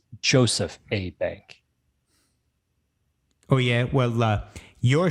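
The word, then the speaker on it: Jos. A. Bank: name of the sponsor no it's not jose bank the joe's is short for joseph it's joseph a bank oh yeah well uh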